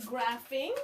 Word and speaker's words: graphing: And we learned that PH make the f sound. Okay, it's a funny sound. It's a funny blend, but that's how it is.